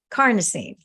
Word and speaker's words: carnosine: This master antioxidant, carnosine, rhymes with carne, like carne asada, because the root word carno, is flesh.